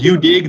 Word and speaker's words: UDig: And it's called UDig. That's spelled. Oh, hold on. That's spelled the letter U dash dig fossils.